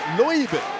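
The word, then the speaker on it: Leube: It's Loibe, where we spent ages over, it was all Aaron Hanare's fault of how do you pronounce Oscar Loibe's last name.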